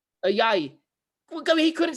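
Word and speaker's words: Ayayi: Even Ayaye, Joel Ayaye, how do you pronounce his name? Ayaye.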